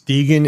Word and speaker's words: degen: It's Degan. It's spelled D E Gen.